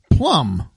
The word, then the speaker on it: plumb: well and let's see Plum but it's spelled p-l-u-m-b so not the fruit doesn't that mean it's